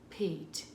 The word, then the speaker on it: Pete: His goat is, here we go, pet, and then silent E at the end, Pete.